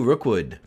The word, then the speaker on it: Rookwood: to another episode this week's guest is Rookwood who uh I have asked when I spoke with him how to properly pronounce his last name I thought it was Rockwood for a very long time until a year